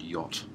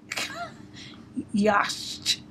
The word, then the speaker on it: yacht: to spell the word yacht. Mm-hmm. And to the best of my knowledge, you spell it like this. Y-A-C-H-T. Now the only problem I have with this is that A-C-H is pronounced as O.